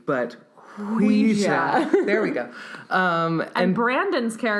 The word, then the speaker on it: Ouija: It's pronounced Ouija. Ouija. Not Ouija, but Ouija.